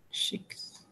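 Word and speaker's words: sheikhs: I was saying it wrong. Shakes. Yeah. Sheiks.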